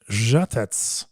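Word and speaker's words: Žatec: podcast I'm Jamie bner and we are in jet Czech Republic that I say correctly yeah that's great I mean the great pronunciation it's Jet Jet U we're in the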